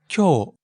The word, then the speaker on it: 今日: And speaking of long vowels, 今日 has long O sound too. So, 今日 means today. Right. It's spelled 今日 but pronounced 今日.